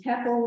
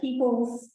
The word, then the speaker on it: tepal: Now, in England, I think it's pronounced teple, but here we say tepals.